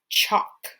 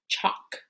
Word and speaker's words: chalk: follow just like me the l is silent when it's with the k like in the word chalk do you like working